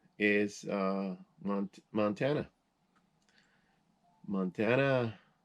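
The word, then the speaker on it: montaña: uh mispronounced is uh montana montana if you put the little line again over the end it's spanish and it's montagna montana means mountain that's why the state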